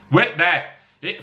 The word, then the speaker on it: Whitby: Whitby.